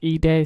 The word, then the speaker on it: Edai: gonna be reacting to i believe is pronounced e day 600 shot and killed